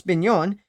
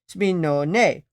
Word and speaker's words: Spinone: The singular is Spinone, Spinone. Huh. So this animal is actually pronounced the Spinone Italiano.